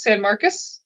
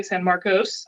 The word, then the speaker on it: San Marcos: It is San Marcus. We don't say San Marcos. I believe that's the California one.